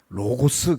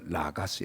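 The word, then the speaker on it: λόγος: 저를 가르쳐 준 교수님이 로고스 그러지 말고이 오 발음은 아 이게 오미크론이 그러거든요 이게 아오 사이로 난다 그래서 라가스 이렇게 읽는 거예요 자 복잡한 이야기입니까 제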